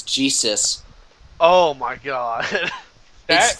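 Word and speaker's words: Ghetsis: So if I had to go by the spelling, I think it's Getsis, which is actually not all that hard to pronounce. I'm looking up his pronunciation. It seems like it's Jesus.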